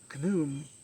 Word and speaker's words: Khnum: And then the second one comes with him, Khnum.